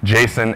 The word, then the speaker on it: JSON: is for me to pronounce these two acronyms Jason and Jeff and Jason is better